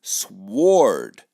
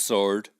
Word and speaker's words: sword: and with great gusto I'd pronounce that word sward but nah it's just sword who thank you for